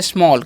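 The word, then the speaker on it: small: जी स्मॉल पढ़ते हैं जैसा कि मैंने आप सभी को बताया कि ए के साथ डबल एल है तो ए का चरण ओ हो जाएगा ठीक है तो स्मॉल हो गया और स्मॉल का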